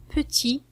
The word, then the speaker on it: petit: كما قلنا petit c'est un adjectif لكن لدينا la dernière consonne لا تنطق, ne se prononce pas. T ne se prononce pas.